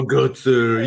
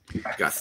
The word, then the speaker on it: gutser: You got to make sure that the T comes first. Gutser. You can probably pronounce it like this. Guster.